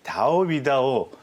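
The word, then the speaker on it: 钓鱼岛: 여기는 다오비다오 중국어 발음으로 해보면 다오비다오가 네.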